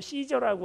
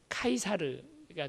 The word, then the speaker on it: 카이사르: 카이사르라는 말은 이제 우리는 잘못 발음을 해서 영어식 발음을 하느라고 시저라고 알고 있지만, 시저의 원래 그 발음이 카이사르가 됩니다.